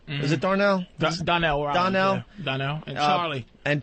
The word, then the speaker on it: Donnell: I went to see Bill Burr, Darnell. Is it Darnell? Donnell.